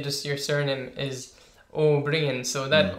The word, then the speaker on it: Ó Briain: Or what I get is more, I suppose, people saying you're Liam Ó Briain, even though it's spelt O fada Briain. I say no, it's Ó Briain.